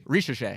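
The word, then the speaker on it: Zaccharie Risacher: Is it Zachary? Arish. Arish. Really? Rishe. Yeah. But it's like it's weird because like somehow the A at the end of his first name more so becomes like part of his last name. The way they say it like Arisha in a way instead of like Yeah.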